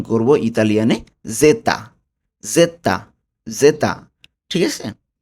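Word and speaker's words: zeta: জেডকে উচ্চারণ করব ইতালিয়ানে জেতা।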